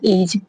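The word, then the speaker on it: edge: Ease एज में एज में भी डी साइलेंट है। ई डी जी ई। एज मींस किनारा।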